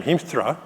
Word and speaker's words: Hiemstra: it ties introduction with the correct pronunciation of my last name Heemstra which is the very Dutch pronunciation I'm going to tell